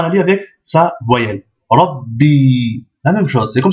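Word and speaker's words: ربّي: Mais il y a une shedda. Donc on va dire rabbi, rabbi. D'accord? Rabbi. Voilà. Donc comment dire, on double la consonne.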